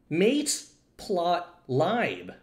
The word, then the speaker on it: Matplotlib: Matplotlib. Yes. y'all are focused on the wrong side of this word. It's matrices laboratory. Matrices. Mate. Mate lab. Mateplotlib. Mateplotlib. Right?